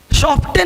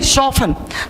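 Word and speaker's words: soften: शॉफ्टन नहीं, शॉफन।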